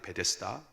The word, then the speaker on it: 베데스다: 메쎄 다가 됩니다 에쎄 다 베데스다 가 됩니다 베데스다 베스 에다가 거라고도 발음할 수 있겠지만 베데스다 라고 하는 이름 저것은